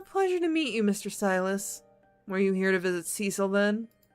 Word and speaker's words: Silas: I called him Silas, but it's pronounced Silas.